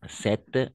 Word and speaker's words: cette: la prononciation en effet cette veste de la même façon alors au niveau de la prononciation on va prononcer de la même façon 7 et 7 dès la même façon la même prononciation 7 7 ordinateur 7